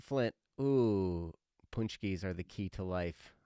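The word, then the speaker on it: pączki: Ooh, punchkis are the key to life.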